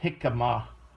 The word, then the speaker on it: jicama: root root vegetable called jicama you could pronounce it like h-e-e-k-a-m-a like hickama that's how you would